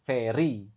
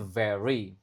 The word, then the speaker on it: very: Lalu ini very ya, ingat mengucapkan V dengan baik. Harus bisa, bukan very, tapi very.